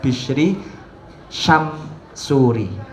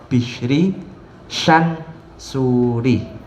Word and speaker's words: Bishri Syansuri: Ada yang kadang membacanya itu Mbah Bishri Syamsuri, padahal yang asli adalah Mbah Kiai Haji Muhammad Bishri Syansuri bersama Mbah Nyai Hajah Nur Khotijah Hasbullah.